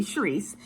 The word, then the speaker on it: Sharice: So my mom named me Sharice, and it's spelled S-H-E, She Rises.